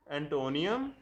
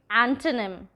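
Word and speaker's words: antonym: सिनोनियम, सिनोनिम, सिनोनिम, एंटोनियम, एंटोनिम, एंटोनिम, ऑफ्टन, ऑफन, ऑफन, data, data, data, pronunciation, pronunciation, pronunciation, अवर, R, एंड, aunt, aunt,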